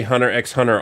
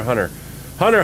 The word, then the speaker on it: Hunter x Hunter: suffering paragon foreign yep I used to say Hunter x Hunter all the time and then people were like you don't pronounce the X's of those enemies it's just Thunder Hunter Hunter Hunter by the way is the I I